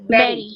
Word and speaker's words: bury: No, it is berry. Berry. Berry. Yes. The pronunciation is Berry.